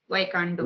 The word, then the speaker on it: Taekwondo: Am I pronouncing right? Taekwondo.